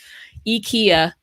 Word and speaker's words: IKEA: IKEA is how you pronounce it, by the way, if you're looking